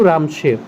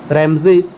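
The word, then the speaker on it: Ramsay: Andrew रामशे वाज the real name of which governor general. Lord Dalhousie का जो वास्तविक नाम है वो एंड्रयू रैमशे है। रैमजे सही प्रोनाउंसिएशन होगा।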